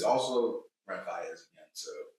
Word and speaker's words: Faiyaz: Brent Faiyaz.